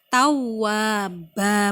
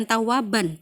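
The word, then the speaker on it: توابا: Tawwaba, bukan tawaban tapi tawwaba.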